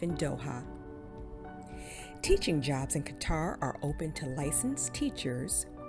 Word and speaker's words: Qatar: record card number seven Qatar also pronounce cutter teaching in Qatar allows